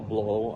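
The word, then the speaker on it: Bleau: Uh, Paul Blow. I'm from Quebec City. Uh, my name is spelled B L E AU, pronounced B L O W.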